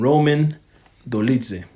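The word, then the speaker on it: Roman Dolidze: first up man we have a middleweight bout between Marvin vetori and Roman dolitse no I'm saying that no you said it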